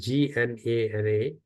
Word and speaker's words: Jnana: so spell, I use Gnana. The if you Google it, it will give you Jnana, Jnan, Audhignan. So the J is actually pronounced as a G.